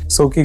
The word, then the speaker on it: Suki: Suki Coochie. Suki rhymes with Coochie.